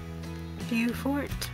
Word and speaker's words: Beaufort: The Yale of Beaufort.